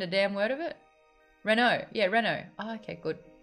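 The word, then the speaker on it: Renoux: Renault. Yeah, Renault. Oh, okay, good. The X is silent. Oh, Renew. Renew.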